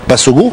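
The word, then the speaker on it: Bassogog: Voilà, je trouve qu'on découvre ce jeune joueur qui est Bassogo. C'est comme ça qu'on le prononce.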